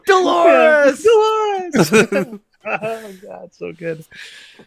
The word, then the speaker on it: Dolores: Yeah, My name rhymes with a part of the female anatomy. Dolores.